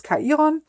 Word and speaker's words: Chiron: I'm not quite sure if you say this in English the same, but in German it's Chiron.